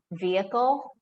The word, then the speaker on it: vehicle: a couple of exceptions if it is in the middle of the word like vehicle then we don't you don't really hear much enunciation on on the h the icon but if